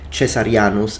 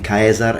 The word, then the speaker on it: Caesar: although please note that the pronunciation that I'm using now is classical Latin if you wish to use or you're more used or familiar with ecclesiastical Latin then these would be pronounced chesar and chesar chesar sorry